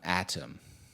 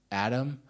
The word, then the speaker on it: Atom: had I say it atam by the way I say it atam but they always say Adam and then the transcripts it shows up as Adam so I'm now super tripping up how to pronounce it but you know